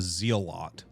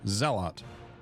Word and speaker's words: zealot: called it before was a zealot cuz it's like Zeal OT zot and so people gave me so I changed it to zeelot that's what I say zeelot zealous Zealot right guys you're not